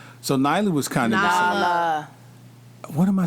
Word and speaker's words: Nala: There's no I in Nala. Nyla. That's what I'm saying, Nyla. There's no Y in Nala. it. It's Nala.